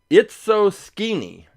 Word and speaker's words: Itso-Skeenie: uh this one called It's So Skinny. It's so It's so skinny, but it's spelled sk e n i e. It's so i tso dash sk e n i e. So it's so skinny.